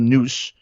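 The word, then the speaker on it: NUSC: They were called Noose. It's spelled N-U-S-C.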